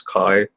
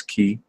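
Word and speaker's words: καί: speaking Co Greek which is ancient Greek it's Kai if you're speaking modern Greek it's key okay um but notice that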